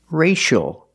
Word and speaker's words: racial: a sound for example this word racial we see CIA that is the letter c before the two vowels I and a the C makes the sh sound like shoe and show